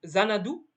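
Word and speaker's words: Xanadu: je vous remets à l'entreprise zanadou ça s'écrit avec un X qui a lancé le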